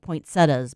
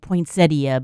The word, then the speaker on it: poinsettia: For one thing, I've always been upset about poinsettias because it looks like poinsettia, but you pronounce it poinsettia.